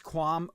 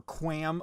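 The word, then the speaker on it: QAM: guard interval uh 256 quam or quam modulation depending on who you ask how to pronounce that acronym and a 56 coding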